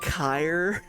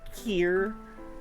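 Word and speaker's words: Kir: I'm going to say Kerr because it because it reminds me of the word sir but with a K in before. It's actually pronounced Ky or Kier.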